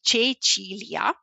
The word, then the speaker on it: Cecilia: This is how you say my name, in case you're wondering, so it's Cecilia.